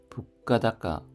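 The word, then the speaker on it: 物価高: 북가다가 북가다가는 고물가입니다. 북가 하면은 물가이고 다까이가 높다인데 합쳐져서 북가 타가가 아니라 다가로 발음이 바뀌었습니다.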